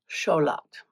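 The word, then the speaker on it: Xolotl: war god, sun god Scholat, which is which is spelled with an X like you'd think it would be.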